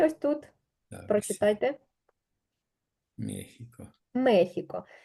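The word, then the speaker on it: México: тому що в нас оця літера читається переважно як с і тільки коли йдеться про Мексику і пару там власних назв вона буде читатися як х але в більшості слів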